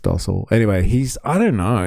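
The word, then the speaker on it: Stossel: His name is John Stoil, I got to say. and um oh yeah pronounced dosel anyway he's I don't know he's just like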